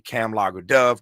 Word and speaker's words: Kamlager: Uh Cam as in camel logger like beer. Sydney cam logger dove.